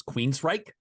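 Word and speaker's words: Queensrÿche: popped my head is Queen's Reich which is such like just because it's spelled so unexpectedly they got Queens correct right and then the end is r-y-c-h-e how do they do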